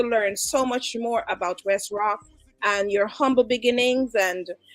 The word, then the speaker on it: Wes Rok: want to make it very clear the name West rock is pronounced W Sr o k w Sr o